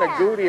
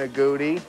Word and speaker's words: agouti: there they look like little rabbits that's an a goody or a Brazilian a goody ay you spell it a g o u t i ay